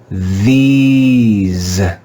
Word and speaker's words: these: by a silent e when the english letter e is followed by a silent e it is usually read with the sound e e let's read this word together these these do you hear the long e sound these this is the